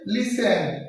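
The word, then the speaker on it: listen: লিসেন, এই যে টির উচ্চারণ নাই।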